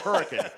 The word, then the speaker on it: Hurricane: Spelled Hurricane, but it's pronounced Hurricane in these parts.